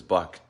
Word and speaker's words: Buck: So he called him Buck, but he called him, the way he pronounced it sounded like Book, but it was Buck.